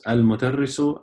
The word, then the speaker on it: المدرس: So it's al-mudarrisu, and you read both of them al-mudarrisu. Okay, so they're written both ways, but you pronounce the meme before, after the lam, not before it.